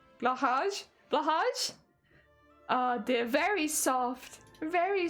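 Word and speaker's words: Blåhaj: How do you pronounce it? Blaja. Blahaj.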